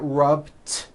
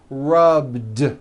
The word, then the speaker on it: rubbed: All I did was add a voiced D sound at the end. Rubbed. It's not rubbed with an unvoiced T. It's rubbed, like that.